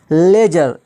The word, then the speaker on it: ledger: जी आया है तो डी क्या हो गया, साइलेंट हो गया। लेजर, LEDGER, लेजर, बही खाता जिसको कहते हैं, यहाँ